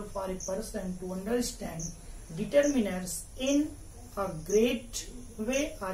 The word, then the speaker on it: determiner: But when you should pronounce it as a noun, you should say determiner. I have syllabicated the word determiner.